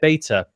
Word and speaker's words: beta: They released a trailer to promote the multiplayer beta. The multiplayer, is it beta or beta? Never decided on this. Beta. As it rhymes with Vita.